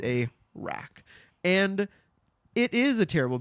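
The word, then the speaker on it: Arrak: is the breath of a r r a k that's how you spell it it's a rack and it is a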